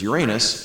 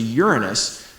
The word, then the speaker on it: Uranus: The planet that's not named after Roman gods is Uranus, which everybody mispronounces as Uranus, and everybody laughs about. And then I say, no, actually, it's Greek, and it's closer to Uranus, but Uranus isn't any better.